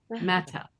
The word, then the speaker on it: matter: But with this particular accent in England, this particular one, those T's become non-sounded, unvoiced. Mata.